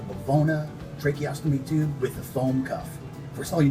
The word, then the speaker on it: Fome: tracheostomy tube with the foam cuff first of all you notice up here it's spelled f-o-m-e that is the way it's spelled although it is foam the foam cuff is